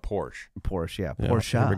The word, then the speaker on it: Porsche: don't know, 15 years ago was the word Porsche. Oh, right. Porsche. But that's from Friends, too. I mean, classic scene. But you say... No. Porsche, not Porsche.